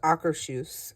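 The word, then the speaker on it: Akershus: um then we did our AC actually it's pronounced acaru character dining we did it last year as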